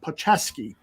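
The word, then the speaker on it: Palczewski: any thoughts on Alex paulcheski I think it's Paul chisky the right tackle from Ella pachevski thank you uh the right tackle from Illinois uh Neil you know how to pronounce his last name so uh you got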